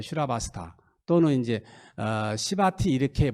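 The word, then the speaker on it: Śrāvastī: 이 사이국이란 말이, 사이성이란 말이 인도 말로는 슈라바스타예요. 슈라바스타. 또는 이제 시바티 이렇게 발음해요.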